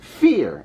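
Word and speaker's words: Vier: friends have told me it is pronounced fear as the word means the number four in german merman fear is our extender we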